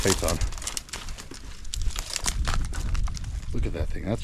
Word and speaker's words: Phaeton: I call it a photon, like a photon torpedo, but I think it's actually pronounced Phaeton.